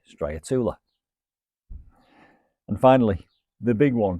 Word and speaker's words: Striatula: Now in America, I think they call it Striatula. It's all about how you pronounce it. I say Striatula.